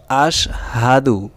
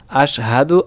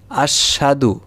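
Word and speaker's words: أَشْهَدُ: আমরা করি কি যে আশহাদু, আশহাদু বলি, অর্থাৎ সিনে উচ্চারণ দুইবার করি। এটা আমাদের ভুল উচ্চারণ। এখন উচ্চারণ হবে আশহাদু আল্লা ইলাহা।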